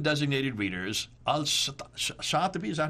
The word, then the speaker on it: al-Shatibi: Al-Shatibi, is that how you pronounce it?